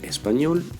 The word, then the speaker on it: espagnol: Le mot espagnol termine par une consonne. C'est la dernière syllabe qui est tonique. Espagnol.